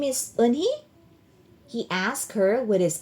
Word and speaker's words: Unhei: Yes, it's pronounced Yunehi and it means grace, Mr. Kim added. Yunhi, Joey said slowly and this time perfectly.